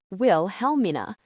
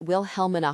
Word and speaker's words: Wilhelmina: The second L is silent.